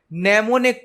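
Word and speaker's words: mnemonic: तो assembly language second generation की programming language है जिसमें नेमोनिक कोड यूज किए जाते हैं। नेमोनिक कोड मतलब किसी शब्द के शॉर्ट फॉर्म, यहां पर एम साइलेंट होता है।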